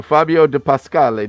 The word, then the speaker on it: Fabio de Pascale: So it's Fabio de Pascale. I wanted to get the exact right pronunciation of that. So Fabio de Pascale. Did I get that right, Fabio? You did, and nobody ever does.